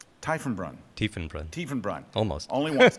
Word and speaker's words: Tiefenbrunn: Tiefenbrunn. Tiefenbrunn. Almost. Only once. Tiefenbrunn.